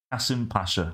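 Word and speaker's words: Kasımpaşa: It's pronounced Kasimpasa, apparently, according to Google.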